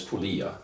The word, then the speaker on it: Puglia: they call it um in italian i guess you pronounce it the g is kind of silent but you know we americans we pronounce it or something like that but i think if the proper announce is pulia without the jade so anyway where is